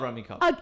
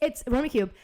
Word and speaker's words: Rummikub: I love Rummy Cub. It's Rummy Cube.